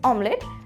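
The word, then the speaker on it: omelette: कई बार इसे लोग आमलेट भी कह देते हैं। तेल का ऑमलेट बनाऊंगा मैं, ऑमलेट खाऊंगा। बट the correct pronunciation is ऑमलेट।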